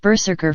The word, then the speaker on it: BRZRKR: Reeves released in 2021 BR RZR KR pronounced Berserker for the uninitiated is also due to